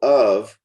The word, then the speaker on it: of: And in this case, we're identifying a schwa sound here. So of is typically reduced strongly and it becomes an sound. So instead of out of this world, you typically hear out of this world.